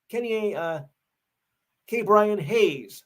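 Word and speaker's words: Ke'Bryan Hayes: Third base, K. Brian Hayes of the Pirates.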